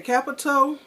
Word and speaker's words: Qapital: ok I'm back ok capital and it's spelt with a cute QAPI tal and it's an online savings